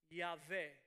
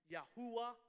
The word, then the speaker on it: Yahweh: But generally, the idea is this is the name pronounced Yahweh or Yahweh, which would be translated "He who is." Tell them Yahweh sent you. Sometimes pronounced Yahuwah. Again, this is all because of the possibilities of what the vowels are.